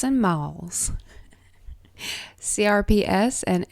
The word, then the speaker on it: MALS: i love you today we're talking curps and malls c-r-p-s and m-a-l-s at least the second one has something that you can pronounce but curps is a little odd to